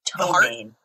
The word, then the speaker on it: ptomaine: No, a sudden attack of toe pain. I'm sorry. I don't know why I said heart, because I saw attack. No, a sudden attack of toe pain. It's spelled P-T-O-M-A-I-N-E.